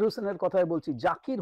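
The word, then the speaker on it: Zakir: ঠিক আছে আচ্ছা তাহলে জাকির হোসেনের কথায় বলছি জাকির হোসেন নয় জাকির জাকির হোসেন জেড আমাদের আমেরিকাতে এখানে বলে জি কিন্তু আমাদের দেশে বলে জেড আমি জেডই বলছি জেড এ কে আই আর জাকির Hossain জাকির Hossain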